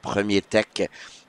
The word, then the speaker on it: Premier Tech: I've been told that Premier Tech is the proper way to pronounce, as it is a company here from Quebec.